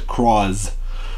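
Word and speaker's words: Cross-Z: becomes coming rider cross which is cross and then like there's a dash with a Z at the end that's how you basically pronounce it but you pronounce it as cross you know and so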